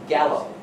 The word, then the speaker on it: Gallo: name one more time Gallo Robert Gallo just like the wine all right so this